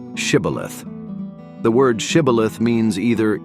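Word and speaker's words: shibboleth: would say to him then say shth and he would say cilith for he could not pronounce it right then they would take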